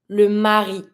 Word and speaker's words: mari: have the husband and the wife the husband Mari Mari you pronounce every consonant here every vow or every